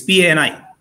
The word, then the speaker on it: Pani: Like, I will give you a very simple example of my surname as is P-A-N-I. And in Indian language, in my language, I'm from Odisha, it would be pronounced as Pani.